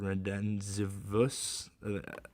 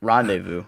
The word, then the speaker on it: rendezvous: Eventful red, I don't know how to pronounce that, Ben. I might be illiterate. Renzivus. Rendezvous.